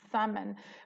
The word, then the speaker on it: salmon: it would be mmm salmon but it has a silent L in it when you say the